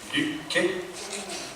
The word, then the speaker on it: Loki: And luckily he did, playing Loki, which is the kind of god of mischief. We have a Scandinavian Viking expert, Martyn in the audience there, who will pronounce it correctly. Luki? Wow.